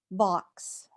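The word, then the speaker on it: Vaux: Vox rhymes with hawks, but these are swifts, the smallest of swallow-like birds.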